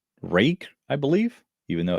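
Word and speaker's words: Ruike: Is it I was pronouncing it Rook, but I think it is rake.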